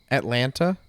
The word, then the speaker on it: Atlanta: people people say no some people pronounce the t atlanta i get that a